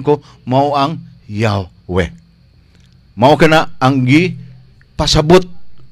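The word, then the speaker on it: Yahweh: 1967 page 1065 nagingon judging from the Greek transcription of the sacred name y h h to pronounce si yahwe the pronunciation Jehova was anown in Ancient jewish circle sa mga panulat ko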